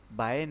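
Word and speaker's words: ب: যখন আমরা বাটা উচ্চারণ করব দুইটি ঠোঁট একসাথেই মিলিয়ে পড়তে হবে। যেমন বা যেমন বা তারপর হচ্ছে আমরা জানি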